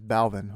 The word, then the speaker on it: Balvin: this hold on okay i just watched this video somebody says balvin okay so jay balvin does his baldness uh